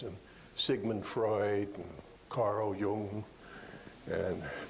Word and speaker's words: Jung: Uh, they could quote from William James and Sigman Freud and Carl Jung and Yung. You see how you get yung? That's the expert pronunciation.